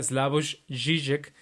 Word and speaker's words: Slavoj Žižek: Hay un filósofo esloveno que se llama Slavoj Žižek, se escribe Zizek, que él pues es muy gracioso en la forma de hablar y es una persona completamente brillante.